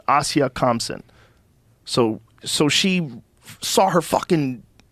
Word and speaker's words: Asia Kamsen: Asia Kamsen. Asia Kamsen.